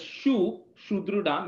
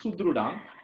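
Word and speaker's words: सुहृदम्: You're saying it as shudrudam. It is not shudrudam. It's sudrudam. So it's just an S, not sh.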